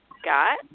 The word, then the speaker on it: Gotte: It's called Stop Being a Douche, A Guide to Relationships and Marriage by, is it Gotte? Am I pronouncing that right? Gotte, yes. Yes, So you did.